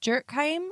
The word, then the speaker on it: Durkheim: So this was coined by a sociologist called Emile Durkheim, I think her last name is pronounced.